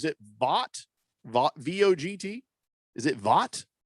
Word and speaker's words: Vogt: Is it Vogt? I believe it's Vogt. Stefan Vogt? Vogt? Yeah, go vote. All right, go vote. Everybody remember to vote. Stefan Vogt, he had a nice